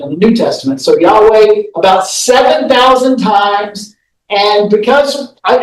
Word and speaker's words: Yahweh: for God, is this, which we typically pronounce Yahweh, but that's a guess because it was never written fully and properly and never pronounced by the Hebrew people.